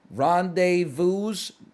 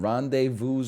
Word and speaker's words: rendezvous: I don't think you pronounce the S in rendezvous.